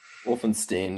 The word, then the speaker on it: Wulfenstein: james oh i meant to ask you your pronunciation of your last name james wolfenstein wolfenstein yeah wolfenstein okay the only uh thing i